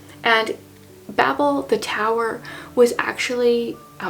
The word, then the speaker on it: Babel: Babel versus Babel and even though the word Babble is usually spelled with two B's that is how this is supposed to be pronounced that is how the author pronounces it and Babel the tower was actually